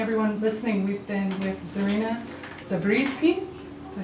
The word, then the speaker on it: Zarina Zabrisky: So again, everyone listening, we've been with Zarina Zabrisky, Did I say it right?